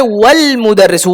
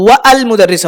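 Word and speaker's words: والمدرس: তাহলে ওয়াল মুদাররিসু, ওয়া আল মুদাররিসু হবে না, এখানে হবে ওয়াল মুদাররিসু এবং শিক্ষক সাহেব, শিক্ষকটি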